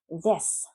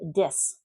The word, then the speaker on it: this: If you don't pronounce this correctly, I hear a lot of Spanish speakers say dis. And dis is actually a verb. It means to insult someone. So don't make that mistake. Don't say dis.